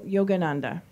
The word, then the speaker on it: Yogananda: I think we should ask Abby to pronounce it. Paramahansa Yogananda.